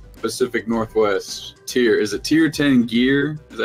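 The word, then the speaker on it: Tir Tairngire: place on earth pacific northwest tier is it tier 10 gear is that how you say it yeah cheer tongue here cheer tongue gear in the wilds i really like it because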